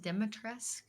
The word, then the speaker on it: Dimitrescu: Middle, we got Lady, is it Dimitrescu? You said it right. I call her Lady B because Dimitrescu. I will butcher the name.